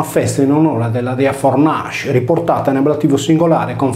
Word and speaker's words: Fornace: La Fornacalia era una festa in onore della dea Fornace, riportata in ablativo singolare con Fornace, che si leggeva Forrache, similmente al sardo Furrache.